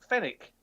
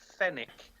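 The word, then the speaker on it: Fenwick: it should just be fenic that's a very English name fenic and it doesn't pronounce the W but again I'm being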